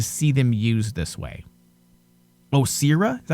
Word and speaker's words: Osira: Osira, is that how you say her name? Osira, yes.